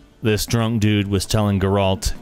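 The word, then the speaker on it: Geralt: drunk dude was telling guralt Garold sorry emphasis on the wrong syllable there yeah don't yeah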